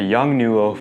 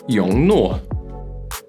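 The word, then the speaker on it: Yongnuo: And I'm guessing, once again, you may have butchered their name, just like these guys. The Young Nuo.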